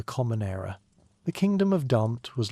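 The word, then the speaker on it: D'mt: The story begins with a kingdom whose name sounds like someone clearing their throat very dramatically. Dant pronounced Damat which ruled the northern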